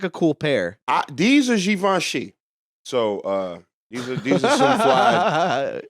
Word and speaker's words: Givenchy: These are Givenchy. So these are some fly How do you say that? Givenchy.